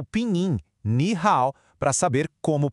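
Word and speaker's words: 你好: Para dizer olá, a pessoa vê os caracteres Ni Hao e usa o Pinyin Ni Hao para saber como pronunciar.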